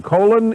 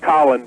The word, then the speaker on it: Colin: Colin in Dothan, Alabama. Welcome to the program. Hey, Rush. Actually, it's pronounced Colin, but I wanted to go back to the San Francisco story about the school board.